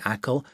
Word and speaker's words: Achill: You say Achill, but it's spelt A-C-H-I-L-L.